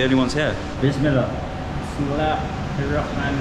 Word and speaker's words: Bismillah ar-Rahman ar-Rahim: Bismillah ar-Rahman ar-Rahim. Safe food. How do you say it? Bismillah.